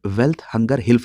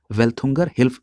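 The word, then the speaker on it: Welthungerhilfe: देखिए, कई जगह किताबों में इसका प्रोनाउंसिएशन वेल्थ हंगर हिल्फ लिखा हुआ है। आप यहां पर देख रहे हैं टी के बाद केवल एक एच है, इसलिए इसका प्रोनाउंसिएशन वेल्थ हंगर हिल्फ की जगह पर वेल्थुंगर हिल्फ सही है।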